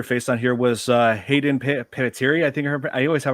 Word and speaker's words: Panettiere: and there were another familiar face on here was Hayden Panettiere. I think I always have a hard time Yeah, pronouncing her last Hayden Panettiere. name. Panettiere, yes.